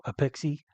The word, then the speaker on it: APEXi: should be Apex or apexi uh but in fact in Japan they do pronounce it Apex uh and I've been